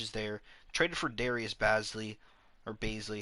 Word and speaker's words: Bazley: Traded for Darius Bazley. Or Baisley. How do you pronounce it? It's Baisley.